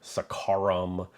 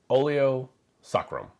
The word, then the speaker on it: oleo saccharum: that is oio sacrum I've also heard some really weird pronunciations of the word like sakaram or sakaram it's oio sacrum oo sacrum the direct translation from